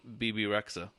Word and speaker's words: Bebe Rexha: knows Margo price okay I've never known how to say her name bebe Rexha bebe Rexha thank you because I don't know what to do with this X and a trap and